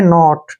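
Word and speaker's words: naught: में से जो है हम जी एच का उच्चारण नहीं करेंगे अब यहां इसको पढ़ेंगे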